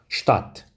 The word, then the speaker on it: Stadt: 또 한 가지 경우가 있는데요. 바로 대와 태가 같이 써져 있을 경우입니다. 이 경우 역시 태로 발음해 주시면 되겠습니다. 함께 읽어보겠습니다. Stadt, Stadt.